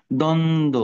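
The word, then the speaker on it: দ্বন্দ্ব: রাখলে ভালো সান্ত্বনা কনসোলেশন দ্বন্দ দ্বিধাদ্বন্দ আমরা বলি দেখো এখানে দুইটাই সাইলেন্ট কারণ কি এখানেও ব ফালা আছে শুরুতে শেষেও আছে কারণ এটা শুরুতে আছে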